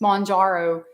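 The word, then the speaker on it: Mounjaro: a shot that's monjaro I was saying it wrong in my video I was like what am I saying it's monjaro um it's a shot that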